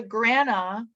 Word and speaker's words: grana: is called granum and all of the grana that's how you say it plural but don't worry about